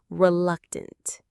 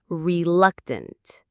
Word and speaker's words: reluctant: In that moment, we are feeling our fifth word, reluctant. Let's check the pronunciation. Re, luck, tent. The syllables are re luck, tent. The stress is right in the middle on that luck syllable. Reluctant.